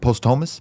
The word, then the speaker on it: posthumous: No, but I meant posthumous.